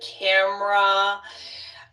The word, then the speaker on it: camera: And then camera. I rarely hear camera. Camera is what I say. Yeah, I also just say camera.